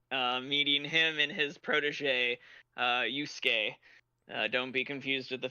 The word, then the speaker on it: Yusuke: but anyway, so the reason I bring it up is because when we first met him, you said Yusuke, like you pronounced each vowel in it.